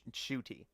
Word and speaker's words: Ncuti: really love to see another so yeah it's pronounced shooty yeah but yeah um damn ver very uh